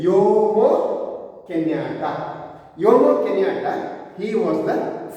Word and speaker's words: Jomo Kenyatta: And this man, Jomo Kenyatta, what is the pronunciation? Jomo Kenyatta.